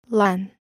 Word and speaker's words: LAN: There is a local area network, LAN, connecting together personal computers, workstations, and mainframes of different makes. The LAN, pronounced like land without the D, may be connected to other LANs as part of a wide area network.